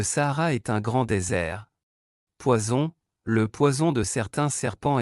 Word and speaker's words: poison: Une S simple entre deux voyelles se prononce comme Z en anglais, une SS double se prononce comme S en anglais, comme dans Sam.